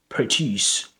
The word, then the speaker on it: produce: So produce with the schwa sounds is the verb produce, produce, and produce, produce. It's not exactly they spell exactly the same, but you know, but they have different pronunciations because the first one is a verb and the second one is a noun. So produce, produce, and produce. That with the schwa sound, is a weak form.